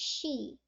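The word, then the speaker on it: 四: let me explain that for is pronounced she and death is also pronounced she so they link the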